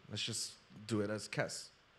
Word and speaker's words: Kes: just do it as Kess. K-E-S, like Kiss, you know, but Kess, you know?